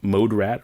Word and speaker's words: Moderat: project with Mode Selector called Mode Rat or Moderat, however you want to pronounce it.